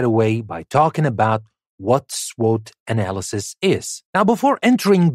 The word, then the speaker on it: SWOT: about the SWOT analysis or S SW analysis which is usually pronounced SWOT analysis now we will learn